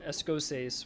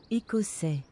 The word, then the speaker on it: Écossais: Or we could always do Escossaise, which is, I know that's not how you pronounce it. What is it? Écossais.